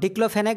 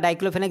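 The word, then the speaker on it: diclofenac: তো ডিক্লোফেনেক বা ডাইক্লোফেনেক যেটাই উচ্চারণ করো না তো এ ডিক্লোফেনেক ইনজেকশন ঠিক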